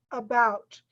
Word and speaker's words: about: For example, about. You hear the bout in the end, but you don't hear the in the beginning. About. It's important that that letter is there, but the stress is on the last part of that word.